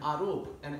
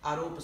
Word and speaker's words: aropa: to Krishna nonetheless, by aropa siddha. You come. Aropa means? Arop means an acquisition. How do you spell it? Aro. Arop, A-R, OP. A-R-O-P, long A-R-O-P.